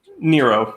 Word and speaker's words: Nero: Nero rhymes with hero.